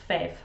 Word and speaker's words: five: said fower, and then five is the one that people trip over if they're not really used to the dialect, but number five is fev.